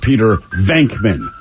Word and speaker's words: Venkman: And now they're complaining, goddamn it, it's pronounced Peter Venkman.